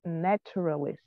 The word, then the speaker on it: naturalist: Просто він англійською читається як naturalist. Трішки з буквою «т» всерединці.